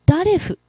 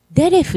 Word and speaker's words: デレフ: ヘブライ語の道、デレフをずっとダレフと発音していたのです。正しくはデレフです。